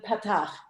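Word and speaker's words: פַּתַח: the ah sound, the patach. Right. And accented on, if you remember, on the first syllable.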